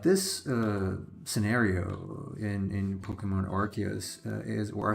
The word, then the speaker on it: Arceus: Like this scenario in Pokemon Arceus is or Arceus. How do you pronounce it? Arceus or Arceus?